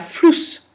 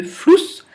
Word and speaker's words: Fluss: écrit se prononce et tout ce qu'on prononce s'écrit. Der Fuß, der Fluss. On entend bien que Fuß, c'est beaucoup plus long que le OU de Fluss.